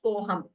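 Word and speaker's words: कोऽहम्: we pronounce we don't there is no special pronunciation for that sign we just read it as koham koham when you split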